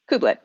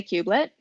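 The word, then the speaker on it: kubelet: first one is k-u-b-e-l-e-t kublet like a piglet baby okay are there any kubernetes terms where the u is pronounced differently where it's like cube with something instead of cube there are people who will say cubelet um it is i would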